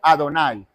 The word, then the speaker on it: Adonai: Y como no tiene pronunciación a nivel fonético, entonces la regla gramatical hebrea te dice, bueno, yo le voy a agregar 4 señales, ¿sí? 4 marcas, para que cuando tú lo estés leyendo, la regla sea, tú lo pronuncies como Adonai.